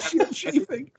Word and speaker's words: ScyldSceafing: I'm on social media at Shield Chafing, which is spelled SCYLDSCEAFING.